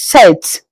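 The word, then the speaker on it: sept: In French seven is set.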